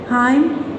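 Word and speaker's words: hymn: एम आ रहा है, एंड में आएगा एन और उससे पहले एम होगा तो एन साइलेंट हो जाएगा। Autumn, हाइम, column, autumn, हाइम और कॉलम, इनमें एन आपका साइलेंट है।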